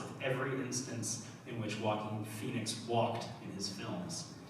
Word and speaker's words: Joaquin: the observation that the actor Joaquin Phoenix's first name also sounds like the word walking and so we just collected screenshots of every instance in which walking Phoenix walked in his